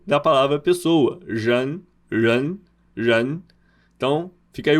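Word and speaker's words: 人: Cuidado com esse R aqui.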